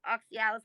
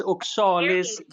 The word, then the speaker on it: Oxalis: oxygen uh oxygen oxy i'm gonna say oxalis oxyalis i'm saying it wrong but it's clover okay yeah yeah you're correct it it is oxalis oxalis so the very first